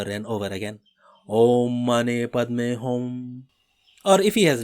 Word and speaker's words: Padme: A is pronounced as in father, Padme, a contraction of Padme, sounds very much like Padme, P-A-Y-M-A-Y, except that the P comes rather close to being a B.